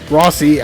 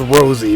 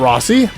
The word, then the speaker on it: Rossi: It's spelled Rosie without the E, so it's really hard. I always thought his name was Rosie, but apparently it's not. I tried looking up, it's like Rossi.